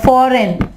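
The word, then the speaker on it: foreign: इसके अलावा रिजाइन, रिजाइन, यहाँ पे G साइलेंट। डिजाइन, डिजाइन, और इसके अलावा फॉरेन, फॉरेन, ठीक है, फॉरेन, फॉरेन, फॉरेन, यहाँ पे G जो है वो साइलेंट होगा।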